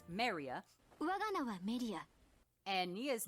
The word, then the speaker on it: メリア: Melia's Japanese name is pronounced Maria, 我が名はメリア。